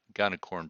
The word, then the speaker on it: Gunicorn: where gunacorn comes in now sometimes they pronounce this differently but I'm going to use the gun account gonna corn pronunciation is a web server